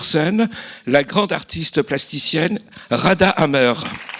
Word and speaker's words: Ghada Amer: la grande artiste plasticienne Rada Hammer Rada prononciation à l’égyptienne ou ghadahammer présente à Marseille parce que